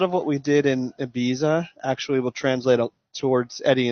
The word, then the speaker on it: Ibiza: Now, did they pronounce it Ibiza or Ibiza? Ibiza. It's the TH.